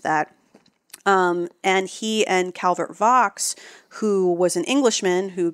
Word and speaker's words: Vaux: Done V-A-U-X. I always thought it was Vaux, but it is Vaux, I have learned. That's because the British like to pronounce all the letters.